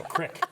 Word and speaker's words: Creek: Creek is the word you can't say on the show. It's Crick. Yeah, that's right. But from a regional dialect standpoint.